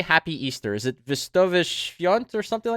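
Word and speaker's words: Wesołych Świąt: Is it Wesołe Świąt or something like that? Wesołe Świąt.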